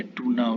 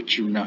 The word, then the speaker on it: tuna: और एक ट्यूना है, जिसको ट्यूना या टूना भी कहते हैं, लेकिन एक्चुअल सही प्रोनाउंसिएशन जो है वो ट्यूना है, TUNA।